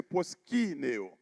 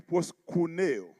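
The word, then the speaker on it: προσκυνέω: Le mot proskuneo, ou plutôt pour une bonne prononciation, c'est proskineo. Proskineo. Mais dans le grec ancien, il dit proskuneo.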